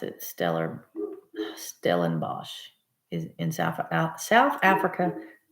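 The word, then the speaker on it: Stellenbosch: I'm not on anything but yes you did pronounce it Stellar stellen Bosch is in South South Africa correctly one of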